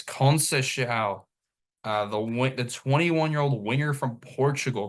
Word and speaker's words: Conceição: Yeah, it's Conceição.